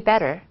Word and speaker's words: better: 하면돼 Blue will be better 어 물론 영국 영국인 언니가 R 바 안 하거든요 그래서 better라고 발음이 딱딱 끊겨서 나왔습니다 그런데 better이든 better 어